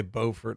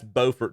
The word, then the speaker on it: Beaufort: So that's Beaufort, North Carolina, and it's spelled Beaufort, and then there's Beaufort, South Carolina, that's spelled the exact same, but it's pronounced differently.